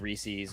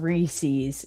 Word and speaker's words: Reese's: Reese's Pieces, because it rhymes.